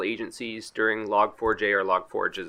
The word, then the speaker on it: Log4j: So as neutral as possible, we had a liaison for several agencies during the Log4j or log forge as it's properly pronounced, and we were asked to scan our